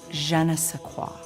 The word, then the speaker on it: je ne sais quoi: Ron, you pronounced it wrong. It's je ne sais quoi.